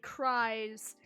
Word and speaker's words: Crys: former crystal c-r-y-s and i had a friend who always pronounced it cries and because i never